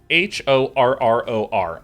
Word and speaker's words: horror: Renegade Cosplay says, please pronounce H-O-R-R-O-R. Oh, that's pronounced horror.